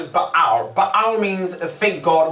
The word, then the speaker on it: Baal: Now, the right pronunciation is Baal.